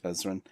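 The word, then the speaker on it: Ezran: have easily just had Ezra killed, but he didn't, because he's not a monster. Ezrin, he's like, there's an N at the end. Yeah, Ezrin.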